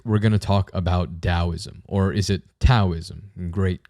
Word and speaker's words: Taoism: how you spell it it should always be pronounced with a d sound so it isn't taoism it's taoism if someone says taoism